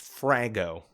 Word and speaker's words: FRAGO: Fragmentaryary orders, pronounced Frago, we just call them Fraggos.